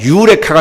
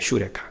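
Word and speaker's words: εὕρηκα: 유레카 스프링도 있고 원래 정확하게 말하면 휴레카입니다. 휴레카. 근데 그렇게 부르지는 않죠 사람들이.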